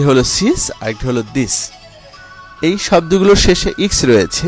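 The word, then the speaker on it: dix: এবং এরপরের শব্দটি রয়েছে দিস। দিস এর শেষে কি? ইক্স আছে, ইক্স এর উচ্চারণ ছয়ের মতো।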